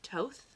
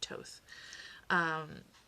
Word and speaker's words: Thoth: Also, the Egyptian god Thoth, which is spelled Thoth. So if you're not familiar with the pronunciation, it's pronounced Thoth.